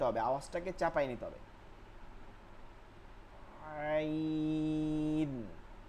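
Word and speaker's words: ع: আওয়াজটাকে চাপায় নিতে হবে আইন আইন আইন আওয়াজকে ভিতরের দিকে চাপায় নিতে হবে আইন লম্বা হা এর মাখরাজ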